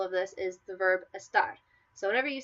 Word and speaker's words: esta: For example, esta versus está. So this versus is. Esta, without an accent mark, you stress the first vowel, which is E.